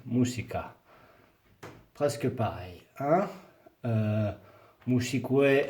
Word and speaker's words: musique: Par exemple, biologie, biología, mathématiques, matemáticas, informatique, informatica, musique, musica. Presque pareil. Hein? Musique, informatique, non. Hein? Musique, informatique. UE ne se prononce pas.